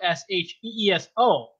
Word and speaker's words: Sheeso: But my real name is spelled S H E E S O. But if you pronounce X I X O, it's still Sheeso.